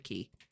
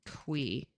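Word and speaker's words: Qi: It's not It's not Mr. Key. It's actually qui something like that because uh Mr.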